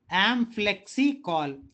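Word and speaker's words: amplexicaul: एक दो बार pronounce कीजिए, पक्का आपको याद रहेगा. Amplexicol.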